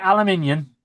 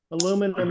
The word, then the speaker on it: aluminum: DJ, if you want to get back at him, just say, when you can say aluminium, you'll be fine. Yeah. Aluminium. Aluminum is the proper way to say it.